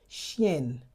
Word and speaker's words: chienne: When you had an extra N here to that word, it becomes chienne. Chienne. The nasalization has been removed.